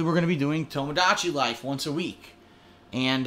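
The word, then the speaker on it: Tomodachi: to be doing um tomado DOI I said it wrong again I I swear to you I always say it wrong tomadachi Life The Sim game for Nintendo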